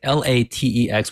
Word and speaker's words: LaTeX: one's right so but if you want to be fancy you can say La Tech which is my understanding